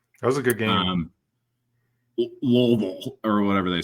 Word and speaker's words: Louisville: They just like real guttural. Like, marbles in your mouth. Louisville. You gotta say it like you gotta say like you have chaw in your mouth, bro.